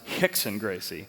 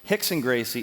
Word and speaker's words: Rickson Gracie: is pronounced horse Gracie but um Rickson Gracie pronounced Hicks and Gracie Hicks and Gracie is 450 wins to zero losses over his